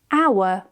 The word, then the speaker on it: hour: When the H is at the beginning of a word, usually of French origin, we can remove the H. For example, honest, hour, honor, air.